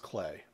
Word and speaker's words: Klee: Klee synthesizer by the way I keep saying clay it's actually pronounced clay is a really good introduction to the ideas